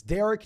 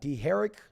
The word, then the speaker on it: Derek: And he's told us multiple times throughout the entire year that it is Derek, not D. Herrick, because who the hell is pronounced D. Herrick?